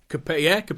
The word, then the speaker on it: Coppelius: Coppelius.